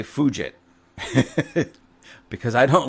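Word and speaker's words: Fugitt: Now, I'm going to try to say this word because the way it looks like it should be pronounced, ladies and gentlemen, almost sounds like a swear word to me, but the it's David and his last name is f u gi tt.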